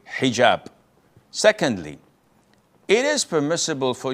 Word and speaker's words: hijab: And I know in France they don't pronounce the H when it is in the beginning of the word, as in hotel or hello.